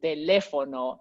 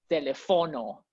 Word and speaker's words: teléfono: For example, teléfono, it's not telefono, you Yeah.